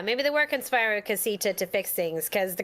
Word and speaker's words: Casita: No, we're pronouncing it the same way that's the an people are. introduction. We're pronouncing it the same way the people are in the movie are pronouncing it. Casita. Yeah, Casita. Look, everybody in this cast is Colombian. I'm pretty sure that's how they pronounce it.